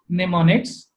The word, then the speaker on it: mnemonics: Mnemonics is pronounced as mnemonics.